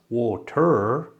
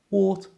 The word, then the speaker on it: water: We use this when the R is at the end of a word, like water. It's not water, it's just water with the schwa sound.